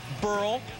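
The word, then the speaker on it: Burrell: Bottom six, Chris Young pitching to Pat Burl. Rhymes with Pearl, hits the Pearl in the left.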